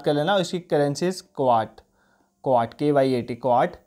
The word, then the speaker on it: Kyat: इसकी currency is क्वाट, क्वाट KYAT, क्वाट।